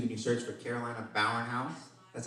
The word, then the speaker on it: Bauernhaus: open up YouTube and you search for Carolina Bowen house that's how you pronounce it by the way b jaob b